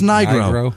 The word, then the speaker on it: Nigro: yeah nigr NR oh it's just Nigro that's what it is cuz she she said it's pronounce like Nitro that so now every time